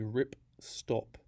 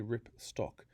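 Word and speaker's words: ripstop: So this is a rip stop nylon, not a rip stock. So it's a type of nylon that's designed not to rip, hence the name rip stop.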